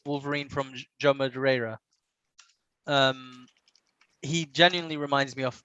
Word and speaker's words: Madureira: Yeah, there you go, Joe Madureira. And Love the that just, pronunciation, by the way.